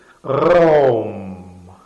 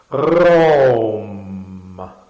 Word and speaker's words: Raum: doesn't matter, which is RAUM. RAUM. RAUM. RAUM. RAUM. And this apparently should emanate from the throat.